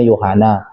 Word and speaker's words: Yohanes: Bunyi S itu enggak seperti Yohana, Yohanes dibacanya Yohana. Huruf S-nya enggak dibaca.